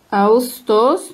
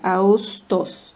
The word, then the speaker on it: Ağustos: Augustos. No es Augustos. Esta yumusha que no suena. Solamente como que la U se alarga. Augustos.